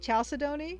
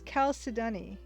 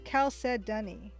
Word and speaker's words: chalcedony: how to pronounce stuff so i would usually pronounce it chalcedony or chalcedony and apparently it's khao sadani or khalsa dunny so and unfortunately i don't know how to